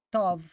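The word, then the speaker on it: טוב: La palabra hebrea para bien es tov, pronunciada con la V, tov.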